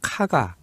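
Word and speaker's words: 加賀: 주인공으로 등장을 해요 그래서 가가 교이치로 하는데요 발음도 정확하게는 카가 카가 예 로입니다 히가시노 개이고 아니고 케이고가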